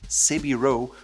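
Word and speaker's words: 背広: Also, the Japanese word for suit is Savile Row, which is their pronunciation of Savile Row.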